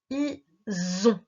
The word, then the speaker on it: ise: I-S-E. Le S est entre deux voyelles, il sonne Z. Is, comme à la fin de marchandise.